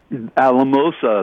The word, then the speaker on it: Alamosa: Alamosa, that's exactly right.